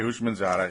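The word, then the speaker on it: Houshmandzadeh: who replaced uh TJ H Baba no TJ husham manada What who was that again how do you say his name yeah TJ hman Zada yeah okay I know I'm not funny but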